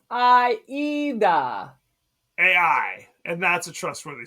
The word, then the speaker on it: Aida: It's Aida, like the opera.